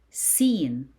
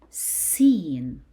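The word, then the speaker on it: س: Seen. Seen. You pronounce seen as S in English.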